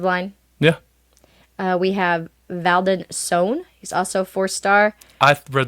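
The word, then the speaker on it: Sone: We have Valdon Sohn. He's also 4-star. I read that as Stone, too. That's funny. It's S-O-N-E is how you say his name. Yes, and he is 6'4", Sohn.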